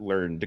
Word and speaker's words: Learned: the other is Robert learned Coombes Robert learnin Coombs yes deserves a two-syllable learned it that's how I read it every time so Robert